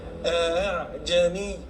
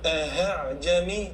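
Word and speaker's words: ءأعجمي: Bacanya dengan tashil, namanya tashil. Baca hamzah yang kedua itu tidak hamzah keras, tidak jelas. A'jami, a'jami, dan jangan buat huruf hamzah itu bukan a'jami, ini salah.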